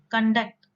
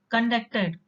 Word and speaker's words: conduct: used as a verb, conduct, conducted. Or when you give a stress in the first syllable, you pronounce it as conduct.